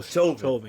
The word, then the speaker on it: Chauvin: Oh, Chauvin, yeah.